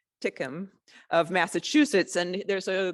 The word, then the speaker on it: Tinkham: Okay, so 4 months after the visit of the census workers, there is a visit by Congressman George H. Tickton, I'm going to say his name right, Tickham of Massachusetts, and there's a group with the U.S.